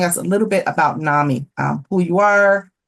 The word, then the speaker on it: NAMI: Both are with the National Alliance on Mental Illness, or NAMI, as it's pronounced.